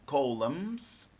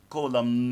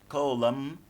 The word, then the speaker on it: column: newspapers are divided into columns you you don't pronounce the letter N don't say column no no no no don't say that but say column column Golem is a